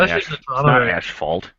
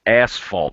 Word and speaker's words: asphalt: it's warm so quick it's not ashphalt ashphalt it's asphalt there's no you know when you spell it it's felt asphalt I just can't say